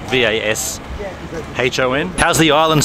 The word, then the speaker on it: Vashon: It's called Fashion Island, but it's with a V. Fashion, and it's not spelled fashion with a V, it's spelled V-A-S-H-O-N.